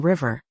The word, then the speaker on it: 부엌: Un batchim "ㅋ" [k] o "ㄲ" se convierte en el sonido "ㄱ" [g] '윽' , así que '부엌' (cocina) se pronuncia como '부억'.